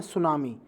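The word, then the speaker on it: tsunami: से लिखा जाता है बट जो सुनामी में जुटी होता है वह सैलेंट होता है तो हम टीम को प्रदर्शित नहीं करते उसको हम साइलेंट रखते हैं और बाकी जो है सुनामी उसको पढ़ा जाता है ठीक है सुनामी है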